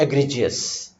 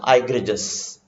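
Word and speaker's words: egregious: अब यहां से एक वर्ड निकाल के लाते हैं, एग्रीजियस। Remember the pronunciation, एग्रीजियस। तो एग्रीजियस इज the pronunciation, is from Latin word, अब ये ध्यान रखिए, ग्रेक्स, ग्रेजिस, हर्ड और फ्लॉक।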